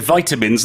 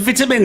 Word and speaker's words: vitamins: I said vitamins and then I said vitamins. You can say both though, Both don't are worry. okay. 맞아요. 북미권에서는 vitamin 그리고 영국에서는 vitamin이라고 하는데요. 둘 다 가능한 발음입니다.